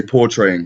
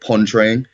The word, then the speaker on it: portraying: I was supposed to say portraying, but I said pontraying.